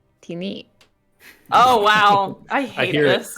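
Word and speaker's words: Tini: was going to say tinny t-i-n-i it is giant for shadow tinny it is a fake creature right uh also actually it is weird it's it's slightly different pronunciation it's uh teeny oh wow i hear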